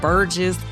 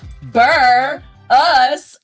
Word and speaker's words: Burruss: Sometimes people get our last name wrong. They be calling it all kind of Burgess Burrows. But we here to tell you it is the bur us banter.